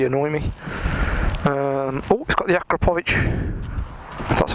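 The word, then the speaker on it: Akrapovič: of things really annoy me we've got the aqua pooch that's how you pronounce it count on it I do like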